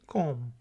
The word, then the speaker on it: comb: बोलें जी, ये कॉम है सिर्फ. बी साइलेंट है, बी की आवाज नहीं आएगी. कॉम.